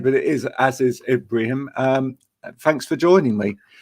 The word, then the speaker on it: Ibrahim: structures yeah so on on the album is a song called mustafa ibrahim and that's how you pronounce my name so he sang freddie sang mustafa mustafa mastafa ibrahim brilliant solo by brian may so my name is ibrahim you have to